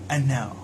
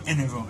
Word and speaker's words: Enel: the ruler of Skypiea, or Eneru, however you want to pronounce it. I know Eneru is in Japanese, and most people like to call him Enel in the English dub, but yeah, Eneru is my number 6 fighter.